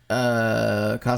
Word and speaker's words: Coscarelli: Coscarelli.